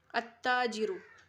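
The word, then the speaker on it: التاجر: तो अलबाबु अत्ताजिरु यहाँ पे लाम नहीं पढ़ा जाएगा, अत्ताजिरु।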